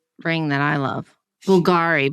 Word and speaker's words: Bulgari: Yeah, and she loves the Bulgari ring that I love. Bulgari, but we're supposed to say Bulgari.